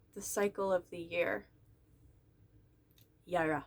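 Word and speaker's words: Jera: cycle of the year yara i was pronouncing it jarrah for a long time no the j is a y this is number 12.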